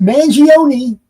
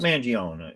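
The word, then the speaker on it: Mangione: Uh if you say his name right, Chuck Manion. No. More people might recognize you, but you know him. Well, I called him Chuck Manion. You know, he is silent.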